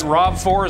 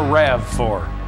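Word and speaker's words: RAV4: Rob Ford Land Cruiser is that rob4 is that correct pronunciation pardon me that would be a REV for well I drive a Toyota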